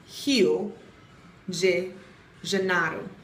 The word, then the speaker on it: Rio de Janeiro: So really, we've all been saying Rio de Janeiro up here in the US and the UK and what have you, and it's Rio de Janeiro. J's make that J sound.